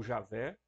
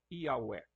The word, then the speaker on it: Javé: nem Yavé, Yahweh ou Javé, né? A Convenção Internacional prefere que a gente use o termo Javé ou Iavé, né? Outros pronunciam Iaué, né?